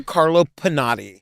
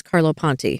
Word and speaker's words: Carlo Ponti: and the film producer Carlo Pinati. No. Am I saying it wrong? Car I think it's Carlo Ponti.